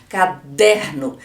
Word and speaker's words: caderno: penúltima como por exemplo caderno caderno o der é a sílaba que eu falo mais forte é a sílaba tônica nas palavras proparoxítonas a